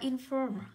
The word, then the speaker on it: inform: Ý A tới đọc là inform. Âm đấy của cô là âm O dài. O dài là những trọng âm ưu tiên rơi vào nguyên âm dài, vậy nó rơi vào âm tiết thứ hai.